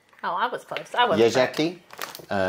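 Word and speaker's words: Jeżyki: Yezheki. Oh, I was close. Yezheki. Because the Z with the dot on top makes it more of a zh sound.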